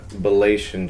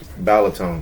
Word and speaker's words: Balaton: And this is a Montmorency and Bellation cherry. Balatone cherry. It has no T-I-O-N in there.